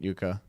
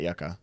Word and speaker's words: Yuka: had y after it Yuka Yuka you're right Yuka yeah not Yucca sorry Yuka that yeah